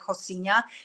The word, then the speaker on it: Rocinha: So it even says like Rocinha. You know, they pronounce R as H. That's why I'm saying Rocinha.